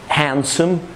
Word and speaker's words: handsome: قبلها ان يا اما تبقى الدي سايلنت في كلمات سايلنت يعني ما بننطقهاش خالص في كلمات زي handsome handsome يعني شكله جميل كده او sandwich واحيانا بنتكش عليها في